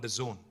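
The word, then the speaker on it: DAZN: and exciting company called The Zone it's pronounced the Zone but it's spelled d-a-z-n now the zone is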